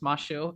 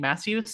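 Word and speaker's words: Masyu: bunch of variants also it is pronounced mashu I I got made fun of on my stream for like 20 minutes for saying Matthews so don't make that mistake um uh are you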